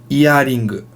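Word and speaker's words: イヤリング: It's iaring. Iaring.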